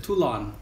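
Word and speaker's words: Toulon: 툴론 퍼터는 이제는 한국 분들이 아직 많은 분들은 생소하지만 어떤 분들은 툴롱이라고도 하고 어떤 분들은 툴론. 실제 이름은 발음은 이제 툴론, 란이라고 하고요.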